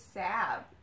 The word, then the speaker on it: salve: There's an L in there. I know, but it's silent. There's a silent L. I think it's salve.